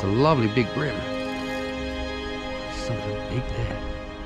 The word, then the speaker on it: bream: And see if we can help pick up some brim, or bream as it's spelt, but black bream is how it's pronounced here. Very similar to a sea bream that you would get in England.